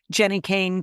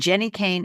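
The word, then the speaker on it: Jenni Kayne: Now's the time to invest in one of the beautiful Jenny Kane cashmere sweaters.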